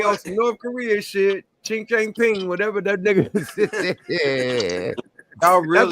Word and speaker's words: Xi Jinping: Xi Jinping.